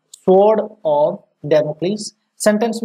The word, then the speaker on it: Damocles: तो इस वर्ड को थोड़ा सा, डेमोक्लीस अगर आपके लिए नया है तो इसका राइट प्रोनाउंसिएशन देख लेना एक बार, डेमोक्लीस, डेमोक्लीस, ठीक है।